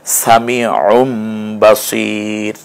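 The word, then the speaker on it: سَمِيعٌ بَصِيرٌ: উ পর্যন্ত আপনি যাবেন তানভীনের ন তো মূলত দ্বিতীয়টা যে পেশ ছিল সেইটা ন এর কাজ করেছে সেই ন এর জায়গাটায় ম পড়তে হবে সামিউম বাসির এটাই হচ্ছে আজকের পড়া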